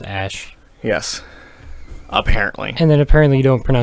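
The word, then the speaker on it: Æ: Elon Musk saying it's pronounced Ash.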